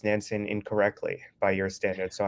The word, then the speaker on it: Nansen: So, yeah, I pronounce it Nansen with this different type of A, but it's totally fine that you do the American one.